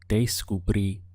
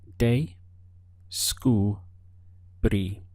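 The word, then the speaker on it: descubrí: looking at the pronunciation first of all we have day school brie counting the syllables we have day school brie they Scooby notice that we have an accent over the eye and this is very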